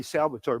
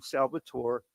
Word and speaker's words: Salvatore: people All call me Salvatore, but they tend to confuse me with the Latino element, which is pronounced Salvador with a D. Yeah. I'm Salvatore, and but I do prefer to be called Sal.